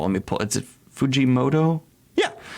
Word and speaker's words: Fujimoto: is it oh let me pull is it Fujimoto yeah it's got his signature just insane style